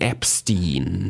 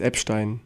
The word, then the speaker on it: Epstein: Und diesmal original englisch ausgesprochen, Epstein. Oh. Oder wie du ihn gerne nennst, Epstein.